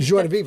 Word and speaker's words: joie de vivre: Joie de vivre.